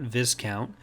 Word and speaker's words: Viscount: The Viscount, and yes, it is pronounced that way, not Viscount, was introduced as a purpose-built New Republic supership developed by the Mon Calamari.